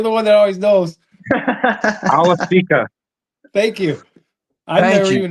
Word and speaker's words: Awosika: Awosika.